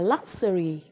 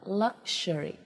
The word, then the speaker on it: luxury: Nên từ điển trong từ điển mà chuẩn Cambridge người ta viết âm là luxury. Luxury đấy. Là âm sờ nặng chứ không phải là âm sờ nhẹ.